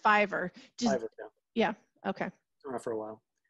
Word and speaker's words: Fiverr: got some writing done on here so it's pronounced Fiverr yeah okay for a while they're actually a